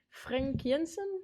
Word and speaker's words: Frank Jensen: So I just mentioned the hashtag #MeToo allegations against Frank Jensen. Do I pronounce it right?